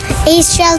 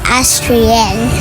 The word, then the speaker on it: Aesthrielle: Kaso mali pronunciation nila. Astral kasi right, hindi Astriel.